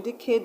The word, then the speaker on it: decade: So in decade, the syllable that you're going to stress is cade.